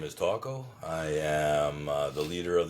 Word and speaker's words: TKO: Taco is my indigenous name, but it's uh it's not spelled like taco. It's TO all capital letters. Like technical knockout. Yeah, I like technical knockout, but it's uh it's pronounced taco.